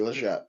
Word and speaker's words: Legette: I'm pretty sure you pronounce it the G, Leggett, if I'm not mistaken.